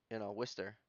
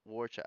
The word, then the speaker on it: Worcester: They have like all these names that we like, Worcester, but it's spelt From fucking what? Warchester.